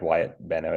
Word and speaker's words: Wyatt Benno: I pronounce properly, Wyatt Benno? Oh, yep, that's correct. Wyatt Benno is correct.